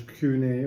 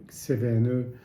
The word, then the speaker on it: CVNE: nom est resté et ça se prononce cun au lieu de cvne et et donc c'est